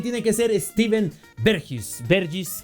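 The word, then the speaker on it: Bergwijn: que ser Steven bergis bergis creo que es la pronunciación correcta del jugador de los Países Bajos que encontramos en el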